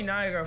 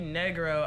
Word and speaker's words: Nigro: But anyway, if you check out his channel, it's Joey Nigro. For the longest, I really thought it was Joey Negro. I I don't know. No, it's not how you say his name.